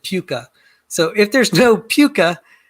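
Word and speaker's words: PUCA: um universal common ancestor uh p-u-c-a i pronounce it puka so if there's no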